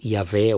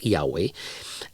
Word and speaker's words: Yahweh: É interessante que Deus, Yahweh, ou como diria no Brasil, Yahvé ou Javé, eu vou pronunciar Yahweh.